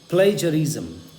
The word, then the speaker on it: plagiarism: प्लेजरिज्म, प्लेजरिज्म। आइए मैं आपको एक बार प्रोनाउंसिएशन बता देता हूँ, ध्यान से सुनिएगा।